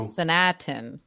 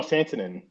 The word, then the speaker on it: Santanen: she's the new Sanatin. No, Santanen.